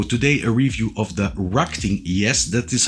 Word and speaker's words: RacGTing: a new video today a review of The Rocking yes that is how you pronounce it stver 809 the 809 Falls bit